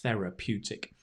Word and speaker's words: therapeutic: healing you then it's therapeutic it's a great word can you say it with me fair pew therapeutic right notice where the stress comes therapeutic therapeutic it's therapeutic